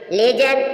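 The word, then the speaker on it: ledger: प्रतिज्ञा please please प्रतिज्ञा डीजी य भी डी साइलेंट है ज जज मीन झाड़ी डीजी ज म झाड़ी लेजर लेजर मीस होता है ही खाता लेजर य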